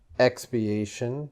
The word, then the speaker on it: expiation: Expiation.